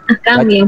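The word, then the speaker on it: أحكامِ: Akami yang betul. Oh, bukan hakami Kak. Tadi kedengarannya ahkam. Oh, ahkami Bu, ini Bu, bukan ahkamu.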